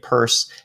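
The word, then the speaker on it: Peirce: and here hester pierce i guess she pronounced her name purse hester purse is is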